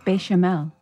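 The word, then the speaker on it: béchamel: like her you said bishop mail bechamel no no t sound at the ambition it is yeah there's no t sound at the end bechamel not that that matters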